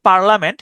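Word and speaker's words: parliament: উচ্চারণটা হচ্ছে পার্লামেন্ট।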